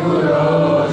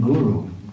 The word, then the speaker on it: guru: If you say guru, you're saying cow. So one time Prabhupada said, I know you mean well, but please don't call your spiritual master a cow.